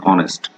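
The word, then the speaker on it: honest: এখানে দেখুন, এখানেও এইচ আছে কিন্তু এখানে অ্যান অনেস্ট, ও এর মতো উচ্চারণ হয়েছে।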